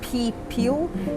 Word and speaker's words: Pipil: The Spanish referred to the people of Cuscatlan as the people, or to get the pronunciation correctly, it's Pipil, P-I-P-I-L, which itself was a Mayan term, and it possibly means young noble.